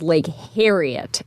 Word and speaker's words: Lake Harriet: different Lake Harriet yes I would definitely pronounce this as Lake Harriet as in the hair on your head right yeah most of